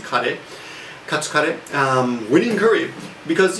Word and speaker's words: カレー: Karee, of course, being curry, the way you pronounce it in Japanese, karee.